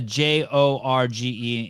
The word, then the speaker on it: Jorge: so he's saying he's gonna get 26 calories I think George Patrick has spelled the j-o-r-g-e in its pronounced Jorge how dare you it's